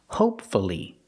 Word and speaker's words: hopefully: let's practice with hopefully again hopefully three syllables pronounce a u hopefully it'll be sunny